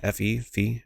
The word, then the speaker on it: Fe: More famously, recently, they made games like Fe, F-E, I think it's pronounced Fe.